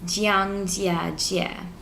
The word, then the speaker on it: Zhangjiajie: Like, it's spelled Zhangjiajie, and it's Jiangjiajie.